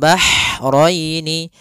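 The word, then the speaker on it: البحرين: dibaca dengan jelas kemudian bahraini Ha ini Hnya H kecil hati-hati jangan terbaca dengan ha besar jangan marjal bahraini ya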